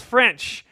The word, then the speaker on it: Ffrench: But there's a gentleman named Maurice Ffrench, and yes, that's spelled French. F-F-R-E-N-C-H. Bonjour, as it were.